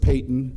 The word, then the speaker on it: Payton: George Payton. It's spelled like Patton, but George Payton.